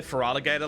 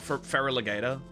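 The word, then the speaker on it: Feraligatr: Why do you say Feraligator like that? That's how it's pronounced. It's not fereraligator.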